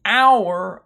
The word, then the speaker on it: hour: I can tell the hour of our new grandfather clock notice our here the H is silent you don't say however